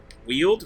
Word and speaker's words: Weald: warriors cap is a decent one in the Weald apparently that's how you pronounce that word by the way wield really yeah the only reason I know is